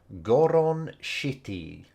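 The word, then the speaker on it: ゴロンシティ: The name of this place because it's called Goron Shitty, which obviously sounds like shitty in English, but it's if you have like a C sound in Japanese, it's pronounced as shi, so city becomes shitty, which is very unfortunate.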